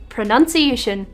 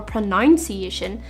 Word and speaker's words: pronunciation: is right on topic pronunciation it's not pronunciation or pronunciation it's pronunciation because of a common misspelling many people replace the u sound with a second o sign how funny is that